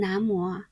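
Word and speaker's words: 南无: 首先 Nama 我们在汉文当中读成南无是敬礼和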